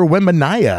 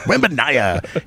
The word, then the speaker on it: Wembanyama: Victor Wembanyama, I believe is how you say his name. I'm going to say that out loud. Wembanyama.